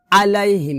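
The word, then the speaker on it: عَلَيْهِمْ: কিনারা উপরে মারিদাতের গোড়ার সঙ্গে লাগবে এভাবে এভাবে উচ্চারণ করতে হবে না কিন্তু হবে এভাবে আলাইহিম ন আলাইহিম কি হবে আলাইহি কারণ এটা হচ্ছে আইনটা আগেই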